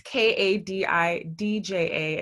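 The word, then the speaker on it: Kadidja: So Oh, my name is spelled different There's no H, it's Kadidija, and the second D is silent.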